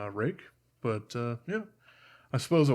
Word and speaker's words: Ruike: I don't necessarily know why they went with the name Rake, but yeah, I suppose it works.